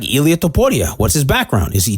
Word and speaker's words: Ilia Topuria: Why are you pronouncing his name Hispanic? He's from Georgia. Because it's Ilia Topuria.